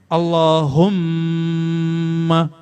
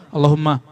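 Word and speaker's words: اللَّهُمَّ: Bang Wendy bilang sama coba kalau ada tasydid begini ini dipanjangin nggak aslinya Allah umma ya kan tapi Antum kalau bacanya gimana Allahumma salah itu kalau mau dapatkan rahasia baca Allahumma humnya dipanjangkan Allahumma ini yang salah di awalnya dipanjangkan Allah Mana ada begitu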